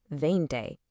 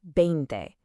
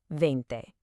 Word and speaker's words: veinte: In Spanish, a V at the beginning of a word usually sounds a whole lot like a soft English B, so it's veinte, not a harsh veinte